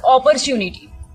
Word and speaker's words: opportunity: In opportunity, like the word R is, the letter R is there and the sound of R we used to speak. But actually it is followed by a vowel. So we are not going to pronounce the sound of R while speaking the word opportunity.